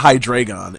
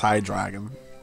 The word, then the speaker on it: Hydreigon: Yeah, that's how you say it, because it's German. Zweilus, Dino, and Hydreigon. Yeah. It's not Hydreigon, it's Hydreigon.